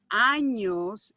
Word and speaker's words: años: If you don't pronounce this correctly, especially with this particular word, if you leave it without the ñ, it means a part of the body that people usually don't want to talk about. Okay? And you definitely do not have 21 of those. So make sure that you pronounce the ñ.